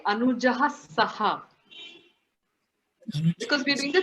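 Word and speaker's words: सह: This is the where you actually have to say saha. You cannot say S-A-H capital.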